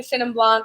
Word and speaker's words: Chenin Blanc: Well, first, how do we pronounce it? Chenin Blanc.